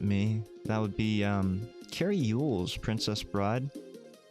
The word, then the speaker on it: Elwes: I'm a big fan of Carrie Yule's, okay? And you might know him as Carrie Elwes. His name is Yule's, but it's spelled Elwes, right?